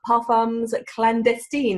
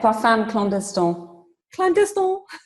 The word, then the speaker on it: Parfums Clandestins: here with Liz from Pam's clandestine is that how you pronounce it Liz I never know almost yeah paam clest clandestin yeah I as you can